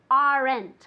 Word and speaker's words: aren't: I never, ever, ever want to hear aren't, okay? Aren't doesn't exist. It's just one syllable. Aren't, okay?